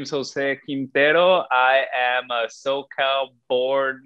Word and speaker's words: Quintero: going to ask you, your last name is Quintero, no? Is that how you say it? Yes, Okay, yes, perfecto. Quintero.